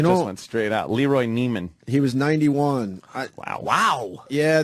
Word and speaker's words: Neiman: Nivens. Is it Nivens or? Oh, Neiman. Neiman.